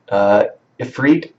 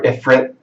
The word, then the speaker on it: Ifrit: If you're attacking with the new Ifrit, I think is how you pronounce it, or Ifrit, Efrit, I think it's Efrit. It's kind of strange how you pronounce it. It's not how I would think to pronounce it, but let's say Efrit for now.